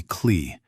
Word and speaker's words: Cle: Most people called me Cle, which rhymes with clay.